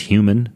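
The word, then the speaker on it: HVMN: expensive so the company hvm n pronounced human they make a good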